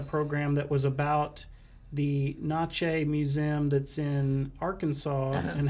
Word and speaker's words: Natchez: time that I had uh heard of the nache and also how to pronounce it and everything because it's good most people say uh because of the net they say Natchez Trace right right and but it's actually not